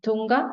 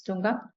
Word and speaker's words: Tunga: now love to invite is it Tonga am I saying it right it's Tunga thank you Tina and